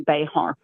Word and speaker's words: Bexar: So, if you were Spanish, it would be Bayhart.